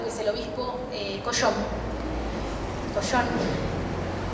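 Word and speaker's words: Cauchon: Collón, en francés se escribe distinto, pero se pronuncia cerdo, es la palabra, realmente fue miserable.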